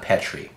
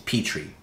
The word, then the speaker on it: Petri: peotry putrid peotry Petry that's not how you say it it's not Petry its Petrie the Petrie RDA there's no masculine way